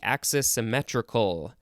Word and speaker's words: axisymmetric: So it's the word symmetric with AXI at the front. Could also be axis symmetrical. Axis-symmetric. Yep, that's how it's pronounced.